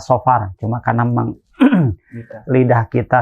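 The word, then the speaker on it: صفر: Safar artinya bepergian ya Secara pelafalan mestinya adalah saofar cuma karena memang lidah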